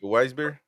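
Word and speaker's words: Weißbier: How do you say that? Weisbeer? Vice beer. Weisbeer. If it's good enough for the FA, it's good enough for me.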